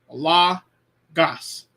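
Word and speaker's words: λόγος: has its own syllable so with Lagos Lambda Omicron gamma Omicron Sigma La gas La gas two syllables two vowels if you get those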